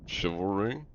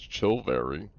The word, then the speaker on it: chivalry: Chivalry? I didn't say it as chilvary. It's chivalry. Am I... Pretty sure I'm saying that right. I don't think I said chilvary. It's chivalry. Mm.